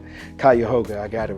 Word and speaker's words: Cuyahoga: I couldn't even pronounce the county's name. Cuyahoga, I got it right now.